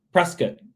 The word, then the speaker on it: Prescott: so crystal calling from prescott arizona um is that is that correct that is they say it rhymes with biscuit so precious there you